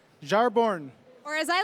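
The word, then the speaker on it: Jarnbjorn: Odinson wields close but no it's pronounced ajar born Jar born or as I like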